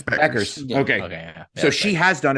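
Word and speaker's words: Bueckers: actually uh Paige Booker how do you pronounce it's Beckers okay so she has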